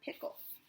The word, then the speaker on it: Pickle: pickles I know what I mean all right actually his name was dr. pickle with the accent on the second syllable foundations but that wasn't why everyone called him dr.